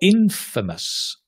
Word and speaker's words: infamous: for a bad thing all infamous stress on the in pitches doesn't mean the